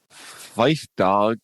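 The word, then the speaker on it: Phife Dawg: of health problems and a battle with diabetes fife dog did i pronounce that correctly you nailed it fife dog of a tribe called quest dies at age 45.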